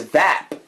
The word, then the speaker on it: vApp: This is vApp. We could pronounce it vape if you wanted to.